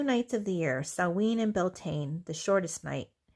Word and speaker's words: Samhain: They believe, or Samhain is how it's spelled, but it's Samhain.